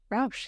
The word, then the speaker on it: Rausch: you that Dr Georgie a Rous is it pronounced Rous Rous yeah yeah is an associate professor lecturer in